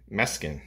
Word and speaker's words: Mes'kin: It was released as a single in August of 1979 on the RCA label with the B-side Mes'kin. I think that's what it's pronounced anyway. It's M-E-S-K-I-N.